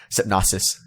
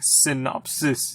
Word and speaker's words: synopsis: it it's just like the trick is just switching the p and the N like it's that synos it's like synopsis it's like that's all